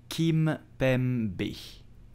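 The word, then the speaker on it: Kimpembe: will say Chris foreign I repeat slowly presnell Kim pembe so you have to pronounce the two M of Kim pembe okay president yep you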